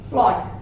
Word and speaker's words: float: आते हैं जहां पर ओ रहेगा, ओ के बाद आपको ए मिलता है, उस समय भी आप ए को साइलेंट कर दीजिए। जैसे यहाँ पर आप एग्जांपल देखिए, फ्लॉट, FLOAT, ओ के बाद यहाँ पर ए तो है परंतु हम ओ को प्रोनाउंसिएट करते हैं, ए को प्रोनाउंसिएट नहीं करते हैं, साइलेंट कर देते हैं।